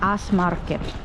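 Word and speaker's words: S-market: dito sa s market s market pero ang pronunciation niya sa finish guys is as market siya s s Oh so many flowers basket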